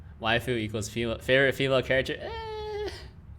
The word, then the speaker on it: waifu: stopping consonant they always have like a vowel after it so it's not wife it's waifu life although in colloquial japanese you can drop the you can drop the vowel if it's the second syllable in a lot of words it's a whole separate